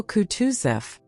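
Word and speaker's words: Kutuzov: General Coutusf said Bulkanssky speaking French and stressing the last syllable of the general's name like a Frenchman has been pleased to take me as an ada and le your wife.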